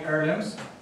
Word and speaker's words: heirlooms: So, do you understand family heirlooms? Heirlooms. The H is not pronounced.